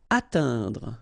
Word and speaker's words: atteindre: Atteindre. So remember when you combine this E-I-N together, you get the sound un.